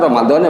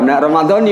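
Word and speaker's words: رمضانِ: Kita emang dari dulu sih diajarin sama orang tua kita Ramadan bacanya, ya. Bahkan ustaz terkenal aja bacanya Ramadhani mestinya, ya. Ramadhani ya.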